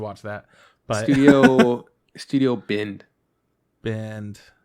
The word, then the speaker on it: Bind: Bind. B-I-N-D. I think that's how I pronounce it.